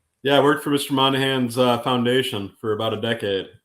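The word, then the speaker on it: Monaghan: side of things like Tom monah Haagen I don't think I pronounced his last name correctly Monahan yeah Tom manahan yeah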